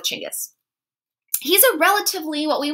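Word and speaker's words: Chinggis: to call himchangas khan in older texts you may see it in english as genghis khan scholars say that this is more close to how it would likely have been pronounced so we're going to go with chingus he's a relatively what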